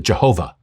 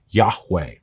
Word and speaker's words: Yahweh: you would pronounce it Jehovah um but we now know that the closest we can make of the actual name in light of the missing vowels is that it's pronounced Yahweh God said my name